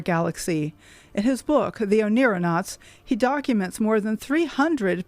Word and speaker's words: oneironauts: And oneironauts is spelled O-N-E-I-R-O-N-A-U-T-S. So astronauts, but oneironauts. So we're astronauts in our dreams.